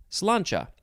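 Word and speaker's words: sláinte: goodbye i'm just making up my own rules cilancha oh and it is spelled s s l a i n t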